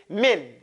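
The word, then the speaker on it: مِنْ: pronounce min incorrectly it's min min a lot of people do it real thick it's this is you have to make it kind of thin okay min Joo okay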